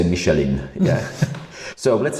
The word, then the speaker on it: Michelin: you are pronouncing right Michelin, because I spent some time in France, yes. I have to say, whereas other people have a tendency to say Michelin.